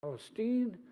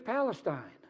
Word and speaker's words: Palestine: talk about Palestine now if you're from Ohio you would pronounce that Palestine but it's Palestine Palestine is the setting